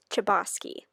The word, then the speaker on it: Chbosky: hi editing erin here i accidentally said the author's name wrong in the video but it's stephen chbosky so yes bye now